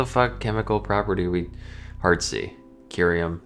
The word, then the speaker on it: curium: Oh hard C. Okay. I was like what the chemical property we hard Curium not serium.